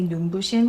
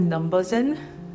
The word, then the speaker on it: Numbuzin: I think they meant to say numbushin, which means in Korean, like it's so shiny that it's hurting your eyes. That's what it means as an expression, numbushin. But I think people pronounce it numbuzin.